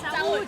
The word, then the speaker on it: Saúde: Saúde.